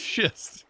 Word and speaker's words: schist: hold on um shist oh it is shist it's not pronounced that I don't think I don't think it's pronounced shist okay it is pronounced shist